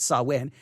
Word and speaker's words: Samhain: this up and then i said oh it saw win and then i forgot that he added the pronunciation or who whomever they may be added